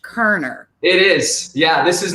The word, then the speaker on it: Koerner: even though it does there's an extra o in there it's pronounced Koerner it is yeah this